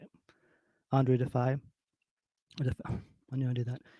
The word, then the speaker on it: Andru Defeye: Andru Defeye.